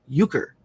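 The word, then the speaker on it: Uecker: and then we have Bob uker or um u c k e r uker like the game except that's spelled different um baseball player commentator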